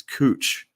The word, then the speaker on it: Couch: So it's spelled Couch. Okay. Which it's couch, right? No. Yeah. And people will correct you like you're a fucking idiot if you say a couch because it's cooch.